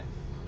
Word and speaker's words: buoy: ये क्या है, लाइफ बॉय बोलते हैं इसको। हाँ, इसको बोलते हैं लाइफ बॉय। ठीक है, बॉय कंफर्म वाला नहीं, वो दूसरा होता है, BOY नहीं होता है, हाँ। BUOY होता है, लाइफ बॉय है ना।